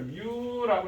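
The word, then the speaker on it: μ: 그럼 접촉면의 성질 마찰계수하고 있으니까 이걸 뮤라고 읽어줘.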